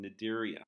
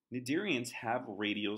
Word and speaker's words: Cnidaria: gonna move into phylum Cnidaria remember we do not pronounce the C nadir Ian's include jellyfish